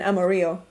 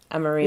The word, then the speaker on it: Amarillo: I mean, I guess I say it like a Texan. Amarillo. Amarillo. You're Mexican, you know. That's more of a Spanish term.